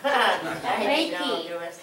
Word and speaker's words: Reiki: Oh, Reiki.